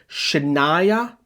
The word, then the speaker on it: Shania: It's Shania. Not difficult to say or pronounce.